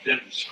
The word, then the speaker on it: Demons: It's pronounced Dimmons, D-M-O-N-S. Lemons with a D is the way it was explained to me.